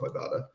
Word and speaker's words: Ibotta: question am I pronouncing Ibotta correctly nailed it yes it's a it's an ad pun based on I bought a bag of groceries for example so that's